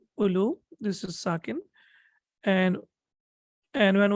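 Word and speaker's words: أولو: So the marfu form will be ulu, and we know that this waw is not pronounced, so it will be ulu.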